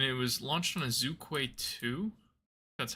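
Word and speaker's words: Zhuque-2: And it was launched on a Zukquay 2, that's how you pronounce it.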